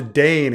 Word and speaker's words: Dayne: Jane rhymes with Dane.